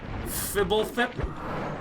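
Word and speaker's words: Fblthp: This is pronounced Fibblethip.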